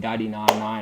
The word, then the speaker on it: DOTY99: DOTY99 DOTY99. That's how it's pronounced.